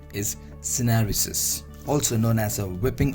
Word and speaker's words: syneresis: This pronunciation is Syneresis, also known as a whipping of a protein.